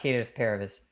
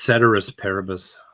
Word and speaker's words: ceteris paribus: I meant Caterus paribus. Or there's another pronunciation. What's the other pronunciation? It's ceteris paribus.